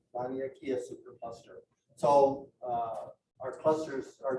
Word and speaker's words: Laniakea: Laniakea? Laniakea. Laniakea supercluster.